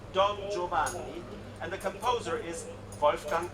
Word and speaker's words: Don Giovanni: So the character's name is pronounced Don Giovanni, and the composer is Wolfgang Amadeus Mozart.